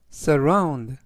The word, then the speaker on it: surround: 정상에서 야경을 즐겼다라는 뜻이 되겠습니다 이번 단어는 surround surround surround라고 발음하시면 되겠고요 이때 강세는 중간 부분에 있는 알파벳